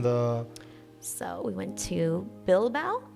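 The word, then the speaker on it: Bilbao: so we went to bilbow am I am I pronouncing that correct yeah bilau yeah um C Leon am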